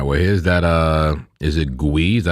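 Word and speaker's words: Gwei: Is it Gui? Is that how you say it? Gui. Gway.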